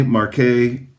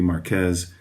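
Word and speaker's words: Marqués: Again, you could say Marquet. I'm guessing that might be more close to the French pronunciation, even though, strictly speaking, from a Spanish language perspective, this would be Marquez or Marquez.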